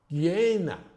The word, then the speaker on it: jnana: self, atma, is a jnana, an object which is like jnana. It's actually JN, but this is done a little pronunciation thing to get the, so you remember it's actually pronounced G.